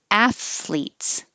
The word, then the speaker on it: athletes: So it can be two syllables. Athletes. You have to pull your tongue back in from the TH to make an L. Athletes. Or you can have three syllables. Athletes. The first one is most common.